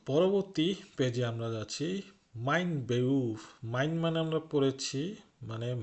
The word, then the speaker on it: Beruf: লক্ষ্য করুন আমি কিন্তু এটার উচ্চারণ বেরুফ পড়ি নাই, কিন্তু জার্মানিতে আর এর উচ্চারণ প্রায় হয় না বলতে গেলে, তো ঠিক সে কারণে আমি এটা কিন্তু বেউফ পড়েছি, মাইন বেউফ।